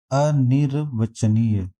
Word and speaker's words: अनिर्वचनीय: अनिर्वचनीय, तो ना के बाद रा का उच्चारण जो है वो वाक्य के ऊपर चला जाएगा, तो अनिर्वचनीय ए पार्ट सही हो जाएगा।